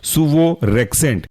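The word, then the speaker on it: suvorexant: example है आपका सुवोरेक्जेंट spelling है सुवो एस यू वीओ और रेंट आर ई एक्स ए एन एक साथ पढ़ेंगे तो कहलाएगा यह आपका सुवो रेंट this audio is uploaded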